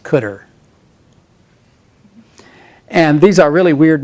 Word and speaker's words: cdr: is pronounced car and cdr is just colloquially always pronounced cutter and these are really